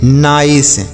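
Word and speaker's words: nice: है समझ आया बाइक इसे क्या पढ़ेंगे नाइस तो समझ आया ना इसे हम निश क्यों नहीं पढ़ते हैं निश इसलिए हम निस नहीं पढ़ते हैं क्योंकि आई के बाद अगर इ लिखा होता है तो उस आई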